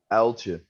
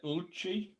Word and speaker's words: Uiltje: How's it pronounced, Ed? Uiltje. Uiltje. Well, I was close earlier, wasn't I? No. I said Uiltje.